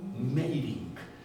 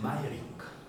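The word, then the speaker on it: Meyrink: r i n K meing se escribe gusta meing pero se dice maying no gustav tiene tres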